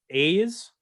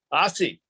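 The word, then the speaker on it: Aase: Don A's? Ossie. I almost said Assy, and I didn't think that would be very nice.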